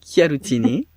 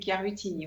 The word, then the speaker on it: Chiaruttini: Donc, aujourd'hui, j'ai le plaisir d'accueillir, je vais bien le prononcer, Chiarutini. On a fait une répétition. Chiarutini, c'est ça. Correctement. Mais bon, si on le dit à la française, c'est Chiarutini. Voilà, ça s'écrit C-H-I-A.